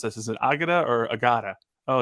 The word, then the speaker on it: Agada: pr team be like hey how do we pronounce this is it agada or agada oh it's Agata okay great it's just you know what are